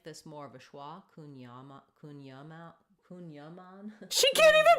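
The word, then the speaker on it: kouign-amann: We would pronounce it kunyaman. Kunyaman. Kunyaman. Kunyaman. But it'd be fine in English or American to say kunyaman.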